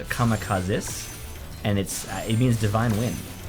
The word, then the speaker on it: kamikazes: So they're kamikazes yeah. of sorts. Well, actually, you know that it's actually pronounced kamikazes, and it means divine wind.